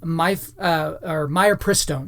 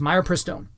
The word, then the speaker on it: mifepristone: All right, the next thing we have here is that Planned Parenthood wants to remove warning labels from mifepristone is how it's pronounced, mifepristone.